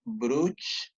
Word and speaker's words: Bruch: o membrana de bru se escribe bruch pero se dice bru la membrana de brug